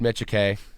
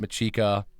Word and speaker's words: Michike: It's pronounced Michike. It's not Michika, Mikiche, Michi, whatever it is. It's Michike. You got it.